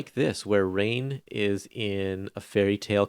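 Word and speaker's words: Rahne: And I also have to say that this issue is how I realized how to pronounce rain. Oh yeah, But before reading it, I was always thinking like Ronnie or something like right.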